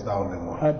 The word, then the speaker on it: Daunemigha: Well, I think my name is famous Daunemigha. Daunemigha, okay. Yeah, fine, the G is silent.